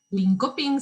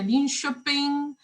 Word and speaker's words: Linköping: en la ciudad de linköping se escribe se pronuncia no me costó aprender a pronunciar no se pronuncia link shopping pero bueno aún me